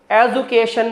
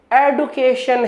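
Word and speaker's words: education: माय एडिफिकेशन ख्याल रखिए सही उच्चारण एजुकेशन नहीं एडिट क्वेश्चन है इसी तरीके से इसके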